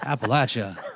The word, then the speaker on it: Appalachia: It's Appalachia.